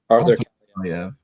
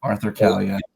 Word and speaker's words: Arthur Kaliyev: Arthur Kaliyev. Yeah, Arthur Kaliyev.